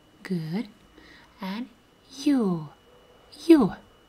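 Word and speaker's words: ё: girl do he yo like yo sound in russian alphabet we have letter yo with two dots yo for example first letter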